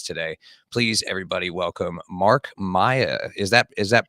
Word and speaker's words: Maia: talk about this today please everybody Welcome Mark Maya is that is that pronounced correctly yeah yeah you did it you